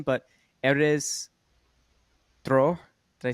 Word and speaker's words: Erez Dror: it right after with the correct pronunciation, but Erez Dror. Did I say that right? You Decent, got halfway decent. All right, you say it so everyone knows correct pronunciation. Erez Dror, but it's a Okay, very hard name way to better pronounce.